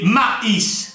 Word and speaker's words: maïs: Par exemple, mais, M-A-I-S, mais maïs. Comment entendre maïs? Eh bien, pour ce faire, on met 2 points sur la deuxième lettre. Voyez, égoïste. Voyez le maïs, égoïste, je hais, nous haïssons.